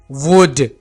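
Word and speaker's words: would: वुड, यहां पर हम एल को साइलेंट रखेंगे।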